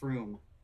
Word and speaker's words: Frome: It's a British place that is pronounced Froome. Oh, I see. Let's try it. Let me try it. Froome.